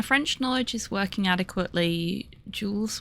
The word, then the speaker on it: Jules: knowledge is working adequately Jules would be would in English be pronounced roughly as chill um breathy sh sound silent S at the end and Vern would have